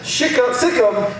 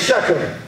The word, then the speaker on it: Shechem: next place he goes is the place called Shechem it's pronounced in the old school Shikha Sikkim and is pronounced nowadays Shechem but it means a place of promise it